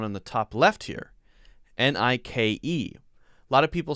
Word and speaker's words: Nike: Nike. Like K-E-Y key. Nike.